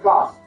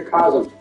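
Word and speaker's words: Kos: It's pronounced orphan of cost or some say cosm.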